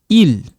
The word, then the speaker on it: ils: So if I say ils sont, for example, if I say ils, right? Ils sont, okay? Ils sont. In this case, this one doesn't sound, it's silent. You don't pronounce it.